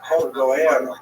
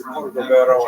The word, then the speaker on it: Cordovero: his Matseva, his gravestone, it's Cordoero. It's a Portuguese spelling, but it's kind of a strange thing to pronounce in Hebrew, so it was sort of mangled as Cordovero, and that has become the standard, even though it's probably not correct.